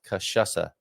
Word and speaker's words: cachaça: And the pronunciation guide here, Donna Mogardo McLaughlin, says cachaça.